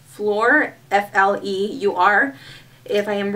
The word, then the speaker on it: Fleur: And I believe this one is spelled, or sorry, it's pronounced Fleur, F-L-E-U-R.